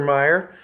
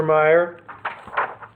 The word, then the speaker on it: Mayer: Of course, it's Mercer Meyer. And Mercer Meyer, or is it Mayer? I don't know. I've never known. I've just always seen it in print, never heard it pronounced. So we'll say Mayer.